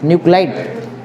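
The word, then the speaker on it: nuclide: न्यूक्लियाइड क्या बोलेंगे उसको, न्यूक्लिड बोलेंगे, क्या बोलेंगे तुम लोग, NUCLE, LE की LIDE है, LIDE ना, न्यूक्लाइड।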